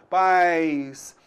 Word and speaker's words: pais: Pais. Você então vai notar aí que a gente tem uma semivogal I, tá? Pais. Houve um declínio, né? Então o som, ele diminuiu, pais.